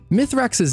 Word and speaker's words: Mithrax: Mithrax's name is actually pronounced as Mithrax when spoken in Elixni.